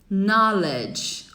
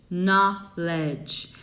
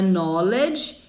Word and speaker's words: knowledge: E por último, knowledge. Olha que legal, você não fala o K, tá? A pronúncia é knowledge.